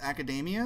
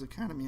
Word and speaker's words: Academia: I remember which Academia what a title it's Academia I thought it was Academy huh because it's spelled like Academy I don't know what do